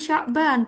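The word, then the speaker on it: شعبان: Nah, teman-teman bacanya nggak boleh kebalik ya. Iya, kalau Sya'ban artinya bulan Sya'ban. Kalau Syaba'an artinya apa? Syaba'an. Ada 7. Lapar. kebalikannya lapar, kenyang ya. Kenyang. Ya. Jadi kalau Syaba'an artinya kenyang, tapi kalau Sya'ban artinya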